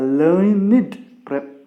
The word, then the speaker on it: learned: Learned professor we must use, my dear friends, because here this is used as adjective. But the same word is used as verb, then we must pronounce it as da sound. Okay, adjective id sound, verb da sound, my dear friends.